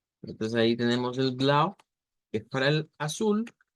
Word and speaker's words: Blau: Prácticamente es otra palabra en Deutsch, en la cual casi que la leemos como se escribe, con la diferencia de que la última U debe ser una U corta en vez de una U larga.